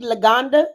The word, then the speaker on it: Luganda: So am I saying it right? Do you speak Luganda? Is that right? Yes. Yeah, I speak Luganda.